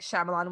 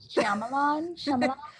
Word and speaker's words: Shyamalan: Night Shyamalan was getting like he wasn't getting the proper reviews he deserved, but I don't know.